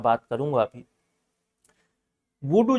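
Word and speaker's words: voodoo: विद्या का नाम है वडू वडू अगर मैं अंग्रेजी ट्रांस में वो करूं अंग्रेजी स्पेलिंग स्पेल आउट करूं आपको तो वडू we double O D double O ऐसा वुडू बोल सकते हैं वुडू तंत्र इसको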